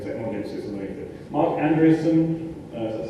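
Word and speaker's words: Marc Andreessen: Mark Andreessen, that's how you say his name, noted internet entrepreneur.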